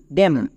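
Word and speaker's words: damn: এম এর পরে এন থাকলে এন সাইলেন্ট। চলে এবার উচ্চারণ করো। ডি এর জন্য ডো এ এর জন্য জফলাকার। নেক্সট এম এম এর জন্য ম। এখানে এন এর উচ্চারণ করতে হবে না। কারণ এন সাইলেন্ট। তাহলে এই ওয়ার্ডের উচ্চারণ কি হলো? ডি এম এন ড্যাম।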